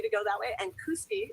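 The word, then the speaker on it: Kooskia: go that way and KUSI is the right way to say this all right so there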